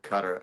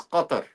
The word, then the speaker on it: Qatar: But it's very guttural. Gar if you really want to say it properly, it's gutter.